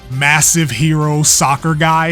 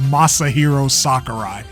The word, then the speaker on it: Masahiro Sakurai: do this weird thing where you pronounce his name massive hero soccer guy his name is Masahiro Sakurai that we are we